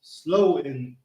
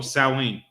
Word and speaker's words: Samhain: pronounced slow in No, Samhain. Samhain. Oh, it's like Samhain.